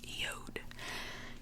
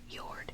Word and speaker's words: Jord: The wooden watches, their brand is named Jord, but it can also be pronounced Jord. Jord and Jord.